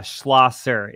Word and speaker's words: Schlosser: your name proper schlasser so you did and that's actually really impressive because people will say it wrong 10 different times but it's yeah schlasser is the correct way to say it and so okay